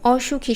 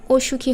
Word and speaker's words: অসুখী: না বোধক অর্থ বোঝায় সেই অ এর উচ্চারণ বিবৃত থাকে অর্থাৎ অ এর মতোই থাকবে যেমন অসুখী শব্দটা দেখো প্রথম নিয়ম অনুযায়ী তো অ এর পরে ও থাকলে এটা অসুখী হওয়ার কথা ছিল কিন্তু